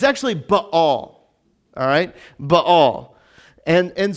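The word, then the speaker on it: Baal: understand where we're going so let's talk about bail for a second bail is not how you pronounce it all right it's how everyone pronounces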